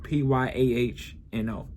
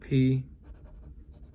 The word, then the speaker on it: Piano: Piano, PYAHNO. See? PYAHNO.